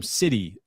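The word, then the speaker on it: siddhi: The vdic the vadic term city. Si dd hi. City. It's pronounced the same as as city, like Gotham City in Batman lore.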